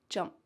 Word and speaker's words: jump: Here we have a light P at the end of jump.